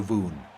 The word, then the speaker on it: Voon: Voon. Okay. So Voo like in boo. So Voon.